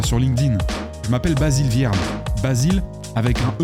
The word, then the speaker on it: Viarmes: ailleurs trouve moi sur Linkedin je m'appelle Basile vierme Basile avec un e comme empereur à la fin et Viarmes ça s'écrit V comme viagra i comme imbroglio e